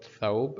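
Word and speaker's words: ثوب: It's called thawb, and thawb, it has fatha above tha, that's why we are pronouncing tha, thawb.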